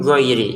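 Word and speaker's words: غير: Ini dibaca dengan jelas. Alaihim giiri. Jangan dibaca dengung atau samar.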